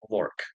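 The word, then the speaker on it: Lork: And uh I I will say his name is Lor. Lor.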